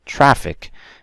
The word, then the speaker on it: traffic: And finally, traffic is on the first part, okay?